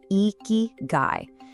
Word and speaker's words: ikigai: It's pronounced eeky guy.